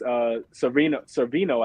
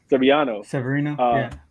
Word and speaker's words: Severino: You get them, against Servino, I think is how you pronounce his name, right? Severino. Yeah. So you get him.